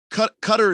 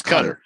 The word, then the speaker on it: Qatar: Qatar is how it's pronounced. Like if you go to Qatar and want to pronounce it the way the locals pronounce it, it's Qatar.